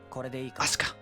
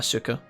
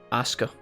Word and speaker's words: Asuka: Asuka. Not Asuka. Not Asuka. Asuka. I told you, chat. We were saying her name wrong the whole time.